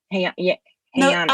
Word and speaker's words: Je'anna: a course that I'm going to say your name wrong again. I want to say it right, so help me. Hey, Anna, I love the ways that people say my name.